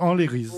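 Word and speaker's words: anleriz: A-N-L-E-R-I-Z, en créole, tous les lettres se prononcent, tous les sons se prononcent, n'y mettent pas le E, donc Enlérise.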